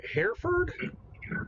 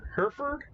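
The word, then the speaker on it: Hereford: uh hairer uh how the hell do you pronounce that it's a breed of cattle Herford Herford Herford Herford that one yeah uh it's one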